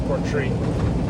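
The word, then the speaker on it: Portree: back to Port tree I was saying it wrong yesterday it's not Porte it's Port tree um anyways half hour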